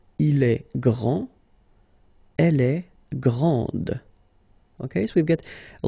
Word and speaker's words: grande: This final D is not pronounced. Okay, so grand, and then the feminine form, grande. Okay, so you put this E, and then you get the sound D, grande.